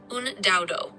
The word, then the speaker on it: UnDaoDu: And third, it's do, like do you like, do you find, but you don't spell it D0, you spell it DU.